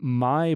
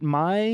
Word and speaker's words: Maille: And the amazing Maille product. Am I saying that right? Is it Maille? Yes. Yeah. Okay. Yep. And I know most people are like Maille, Maille.